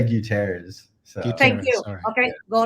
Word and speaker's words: Gutierrez: your last name please i say guterres so thank you okay